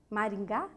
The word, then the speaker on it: Maringá: Primeira sílaba, de trás para frente, forte, portanto, as duas são oxítonas.